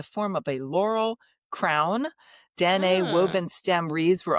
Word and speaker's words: Danae: And so that's Danae. And I saw a couple of different pronunciations from that, but I go with Danae.